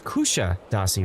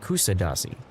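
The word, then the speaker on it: Kuşadası: Kushadashi? Is that how you pronounce it? It's Kusha Dasi, right? Not Kusa Dasi. Kusha, right?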